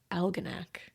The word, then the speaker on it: Algonac: Algonac like Almanac. Like Alan, I did it.